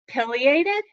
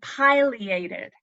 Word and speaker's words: pileated: meaning a cap and it is pronounced two different ways pileated and pileated now around here it seems like we pretty much say pileated that that's what I